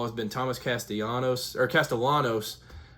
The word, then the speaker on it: Castellanos: So, the talk of the town um this week in college football has been Thomas Castillanos or Castellanos was how his name's uh pronounced pronounced uh not Castanos like the former Reds player,